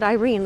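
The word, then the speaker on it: εἰρήνη: Like the word Irene. Like if your name is Irene, it means peace. And so it's like that word, but it's pronounced irene, as far as I remember.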